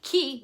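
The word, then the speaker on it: chi: how the relative pronoun key meaning who has a sneaky H after the C making it a hard C sound coming in at number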